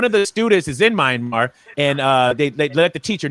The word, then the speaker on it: Myanmar: We all know what's going on in Myanmar, right? With the protests and people being, how do you pronounce it? How you pronounce it? You said it fine. I said Myanmar.